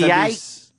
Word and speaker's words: Mediaite: Mediaite?